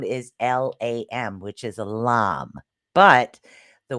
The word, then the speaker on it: LAM: The way this is pronounced is lam. The A sound is a lot longer, is what it is for the root chakra.